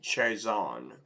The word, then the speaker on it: Chiasson: Macy Kiyosin. All right, so I'm going to go with Buffer's pronunciation on that. He says Macy Chazon.